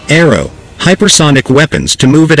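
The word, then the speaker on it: ARRW: launched rapid response weapon our arw pronounced aero hypersonic weapons to move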